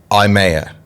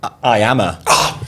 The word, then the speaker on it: IYAMAH: Be honest, do you know how to pronounce my name? IYAMAH. IYAMAH.